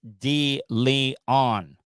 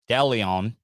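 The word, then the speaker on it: DeLeon Springs: up in the leon it was d lee on not delion maybe we're just so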